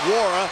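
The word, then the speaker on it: Nwora: Wara's got 12.6 rebounds and that assist. The N in his name is silent.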